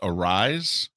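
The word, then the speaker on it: Arraez: Judge, with his performance last night and the fact that I think it's pronounced Arise, the first baseman for the Twins, who is just fading and falling apart.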